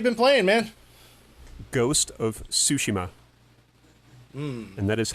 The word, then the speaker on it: Tsushima: Ghost of Tsushima. And that is how you pronounce it.